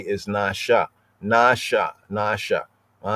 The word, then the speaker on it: נשא: When it's above an S, that means the S is not pronounced as a S, but as a sh, not as a S, but as a SH, right?